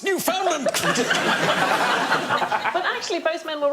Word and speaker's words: Newfoundland: Did he go to Newfoundland?